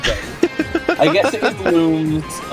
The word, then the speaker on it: Lums: The games, they're always there's like several parts in several of the games where they're like, these are pronounced looms.